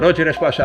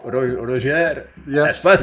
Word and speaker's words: Roger Espasa: Roger Espasa, I do pronounce it right. It's the English version, I think, of Roger Espasa. Yes, okay, good.